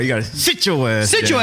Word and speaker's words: Citra Ass Down: Um, pretty sure they're in Kentucky, but Citra ass down. Citra forward. It says, "Sit your ass down." No, Stephen. You got to say it right. You got to sit your ass down.